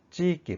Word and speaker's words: 地域: 반드시 익기로 발음하셔야 돼요. 액기로 발음하시면 안 됩니다. 찌액기가 아닙니다. 찌익기 발음 조심하세요.